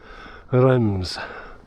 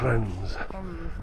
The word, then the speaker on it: Reims: see in um Rems. Yeah. Kren Trying to say it like the French do. It's bit weird. It is. Rens.